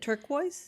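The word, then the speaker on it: Turkuaz: There's one one um it's it's called tur turquoise tur turquo it's some I can't pronounce it turquoise turquoise it's t u r k u a z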